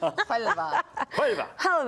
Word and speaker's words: Huelva: Huelva, as you correctly pronounce, Martin. Huelva. Huelva.